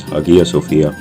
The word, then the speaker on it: Hagia Sophia: Often in English it is pronounced as Hagia Sophia.